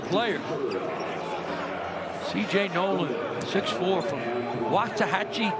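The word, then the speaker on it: Waxahachie: CJ Nolan 64 from wachi Texas pronounce that oh close close waah hatchee okay which is the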